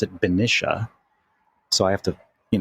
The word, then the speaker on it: Benicia: And I recently moved to the water's edge of Benicia. Benicia downtown is so freaking cool, I have to tell you. Now, if you're a local from there, apparently you pronounce it Benicia.